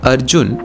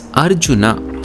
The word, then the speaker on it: Arjuna: So this right here is not Arjun or Arjuna, it's Arjuna.